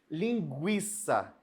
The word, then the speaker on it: linguiça: Vou usar a palavra GU agora, Linguiça. Gui, gui. Eu não falo linguiça, Eu uso linguiça, GU. Eu pronunciei.